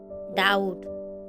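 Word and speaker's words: doubt: जैसे डैड डाउट debtor तो आप देख सकते हो इसमें बी के बाद टी है लेकिन इसमें बी को नहीं बोला गया है।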